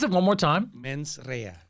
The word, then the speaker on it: mens rea: Pronounce it one more time. Mens rea. Mens rea, which you said means bad intent.